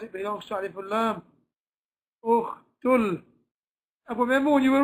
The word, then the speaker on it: أخت: You don't pronounce it, you jump straight over it, you go directly to the Lam, you say Ukhtul. Ukhtul.